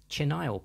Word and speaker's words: chenille: red hot Cattail and chenile plant but chenile is actually the French word for Caterpillar so should be pronounced something closer to chenil apologies for my terrible